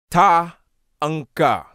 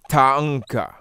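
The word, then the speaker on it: thangqa: In isiZulu, this word will be pronounced Ta-anka. And it's a very interesting spelling because the spelling in isiZulu would be T-H-A-N-G-Q-A. And it would be pronounced Ta-anka.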